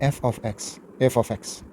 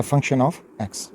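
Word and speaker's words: f(x): इसको प्रोनाउंस किया जाता है f ऑफ x या फंक्शन ऑफ x, यानी y इज़ फंक्शन ऑफ x।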